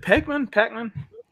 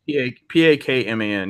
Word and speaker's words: Pakman: Is it Pac-Man? Oh, I might be saying it wrong. I think it's Pakman. Yeah. Oh, okay. I said it wrong.